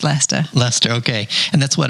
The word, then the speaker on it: Leicester: be spelled l e s t lester it's l-e-i-c-e-s-t-e-r americans mostly pronounce it lyster but it's not it's leicester leicester okay and that's what about 100 miles